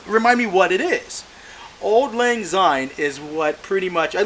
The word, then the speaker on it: Auld Lang Syne: I'm going to butcher the name how to pronounce it. Okay, it's okay. Think of the bar in Singapore. And Paris, technically. Auld Lang Syne.